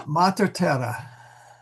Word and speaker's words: mater: Matera. Sorry. Mater. There we go. I got to get the syllable.